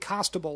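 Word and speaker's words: Costabile: David Constable, like Constable, except without the N.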